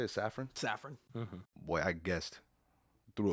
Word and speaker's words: Safran: I think we do because with him and Peter Safran, that's how you say it, Safran.